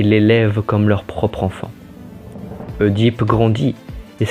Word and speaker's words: Œdipe: Je prononce Œdipe et non Édipe, comme je dis Polybe et Mérope, et pas Polybe et Méropée.